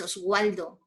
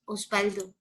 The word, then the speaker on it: Osvaldo: No es Oswaldo, es Osvaldo. Y como U, cuando digo, por ejemplo, kiwi.